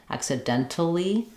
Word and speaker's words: accidentally: When we do that, it's going to sound like dently, because we're back to our rule of 3 here. We have the T, the NT, and L all together. We're not going to hear that T, not accidentally, but accidentally. We're going to stop that T.